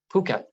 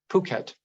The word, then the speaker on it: Phuket: in a webinar but I looked it up and it's Phuket Phuket um and it's in uh Thailand it's an island in Thailand so Victoria a and